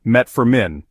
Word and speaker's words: metformin: may reduce its Effectiveness metformin also known as gluc is pronounced met Forin it is primarily used